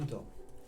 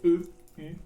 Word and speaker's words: Eutorn: Je m'appelle Eutor. Comme tu dis. Eutor. Ça s'écrit comment? E-U-T-O-R-N.